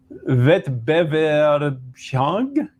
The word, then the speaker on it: Wettbewerbsfähig: So the ability to have a competition, competitive, wettbewerbsfähig. Wettbewerb. It's an S, not a sh.